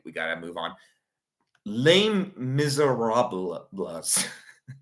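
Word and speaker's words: Les Misérables: Lame miserablas. That's actually how it's pronounced.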